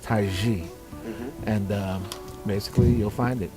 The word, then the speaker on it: Tize: definitely out there just look at my name t-i-z-e and it's pronounced taiji and basically you'll find